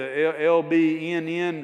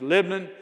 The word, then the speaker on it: Lebanon: You got to you got to take all the vowels out and just say the LBN. Uh that's how we tend to pronounce it. Just Lebanon.